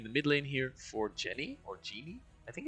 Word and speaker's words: Jhin: Pronunciation is correct. It is Jenny.